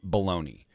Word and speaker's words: bologna: Don't try to pronounce it as anything other than baloney.